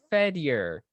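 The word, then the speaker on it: Fedyor: i already said that it's fed your ow f-e-d i mean if you want to pronounce it weird five it's fed year he's a lovely character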